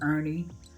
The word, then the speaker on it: Ernie: Kofi, Kfi, Kofi, Kofi, Kfest, hollered their fraternal headmaster and big brother Ernie, pronounced Ern.